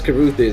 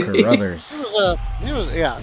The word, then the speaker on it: Carruthers: thought he was saying We thought it was Caruthers. It ain't Caruthers, Yeah. apparently. Carruthers.